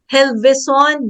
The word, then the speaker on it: Gelvezon: a special guest SI Jen Jen ano ba pronunciation MO is it helison gison you got it right po H helison